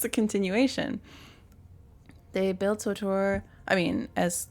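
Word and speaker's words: SWTOR: SWOTOR is marketed as rhyming with KOTOR.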